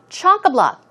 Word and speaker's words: chock-a-block: Chock-a-block. Stress goes on both of these. So the first and the third syllable, chock-a-block.